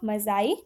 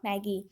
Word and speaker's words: Magi: है the gift of मज़ाई, जो कि ओ हेनरी के द्वारा लिखा गया है। सबसे पहले यहाँ पर जो वर्ड है MAGI, इससे मजाई प्रोनाउंसिएशन करते हैं, नॉट मैगी।